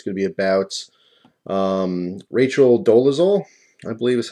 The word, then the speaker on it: Dolezal: this video is going to be about Rachel Dolezal, I believe is how you pronounce her name, and she is now an